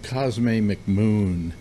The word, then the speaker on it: Cosme McMoon: Character with the unlikely name of Cosme McMoon. Yes, thank you for pronouncing his name properly.